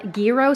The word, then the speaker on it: gyro: I also got some gyro slices. Listen, try as I may to pronounce that. And everyone in the comments is always telling me the proper way. It's hero without the H. Gyro.